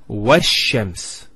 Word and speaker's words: وَالشَّمْسِ: This is al of definiteness. This is hamzat al-wasl. It's not pronounced, because there's something before it. Similarly, this lam is not pronounced either, because as we said, this is from the sun letters and there's a shadda there. So it's washams.